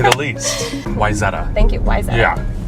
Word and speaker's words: Wayzata: this should be interesting to say the least wetta thank you WIA yeah it's mispronounced all the time so don't so how